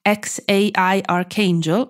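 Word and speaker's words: X Æ A-12: si chiama XA A12 che Bouchet pronuncia Xai archangel o ex per brevità Ma ancor prima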